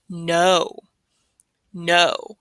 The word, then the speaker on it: know: Next, now you might hear this called like a silent K, but it depends on what you're trying to say. So this K-N-O-W is no. No.